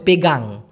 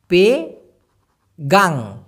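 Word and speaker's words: pegang: সেক্ষেত্রে তাংকাপ তাং বলতে হবে না বলতে হবে পেগাং পে গাং পেগাং পি ই জি এ এন জি সাধারণভাবে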